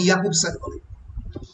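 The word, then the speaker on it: Jakobson: Roman ইয়াকুবসান, রাশিয়ানে যে উচ্চারণ হয় না ওই জন্য ইয়াকুবসান বলে।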